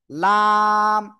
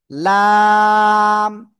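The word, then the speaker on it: لام: জিব্বার আগার কিনারা উপরের মাড়ির দাত। এইযে এইযে এইযে উপরে মাড়ি দাঁতের গোড়ার সাথে লাগাতে হবে। লাগিয়ে চার আলিফটা নিয়ে উচ্চারণ করতে হবে।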